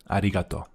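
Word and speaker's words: arigato: but just in case kind of pronounced the R a bit too much there. Ariato. I think that's better.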